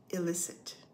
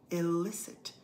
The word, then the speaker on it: illicit: of the day is illicit stress is on the second syllable illicit you try it great